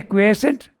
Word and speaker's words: quiescent: mind and the quiescent you say quiescent I have pronounce it quiescent because it's quiet is it quotient I think it's quiescent okay it's really interesting